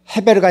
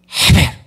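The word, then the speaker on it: חבל: 요렇게 입을 돌려 가지고 헤베르가 아니라 헤베르 헤베르 해 보세요. 헤베르 힘 있게 헤베르 헤베르 예 헤베르가 줄이라는 단어입니다.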